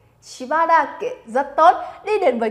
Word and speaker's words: しばらく: Chúng ta sẽ đọc là しばらく. Nè, đơn giản vì nó sang sẻ nó しばらく. しばらく.